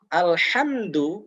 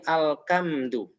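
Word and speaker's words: الحمد: Alhamdu menjadi alkamdu. Alkamdu. Alhamdu segala puji, kalau alkamdu ini adalah segala penderitaan. Nah, ini sangat fatal.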